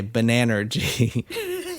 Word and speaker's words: Bananergy: This question is brought to you by Bananergy. Banana energy. Banana energy. How do you say it? Banana energy. Oh, it's not banana energy. I think banana energy would be funny. No, it's Bananergy.